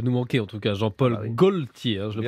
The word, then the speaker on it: Jean-Paul Gaultier: Il va nous manquer, en tout cas, Jean-Paul Gaultier. Hein, je le prononce bien, c'est bon, je maîtrise.